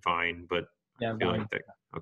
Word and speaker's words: Vejen: the pronunciation, but Vien, Vejen, I think they've been saying it Vine, but yeah, I feel Vine.